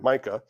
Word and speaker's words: Micah: Could be pronounced Mikah, but Micah.